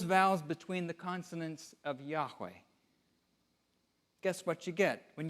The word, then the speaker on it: Yahweh: be uttered at all most Scholars agree the name would have been pronounced Yahweh but there were no vowels in ancient Hebrew Hebrew it wasn't until